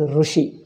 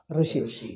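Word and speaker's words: ऋषि: lost it is south indians are pronounced as russia they make it totally oh russia north indians make it totally they call it rishi north south indians make it to russia but it is neither one or e it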